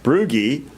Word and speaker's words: Brugge: Scott and Shannon Brugge, I'm going to say it right, Brugge. I got a little code down here. It says Gee sounds like key.